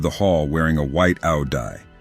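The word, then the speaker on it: áo dài: hall wearing a white ow dye pronounced a Yi a traditional Vietnamese dress she had long black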